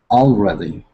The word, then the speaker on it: already: Already. Already. Already. And actually, we put the stress not on all, but red.